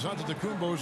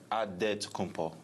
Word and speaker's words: Antetokounmpo: The Nigerian way, you gotta say with a D. So it's Antetokounmpo. But in the Greek way, you say with the NT, like Antetokounmpo.